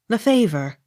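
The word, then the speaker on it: Lefevre: leckenfield l e f e v r e the favor l e i g h lee l-y-v-e-d-o-n livedon m-a-c-n-a-m-a-r-a mcnamara accent on third syllable m a i n w a r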